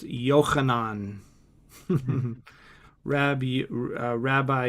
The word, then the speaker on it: Yohanan: And just to just to know the the name is pronounced Yohanan. Mhm. Rab Rabbi Yohanan.